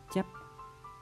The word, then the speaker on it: chép: tư là từ đau từ đau trong tính đồng đọc là chép chép chấp từ thứ năm là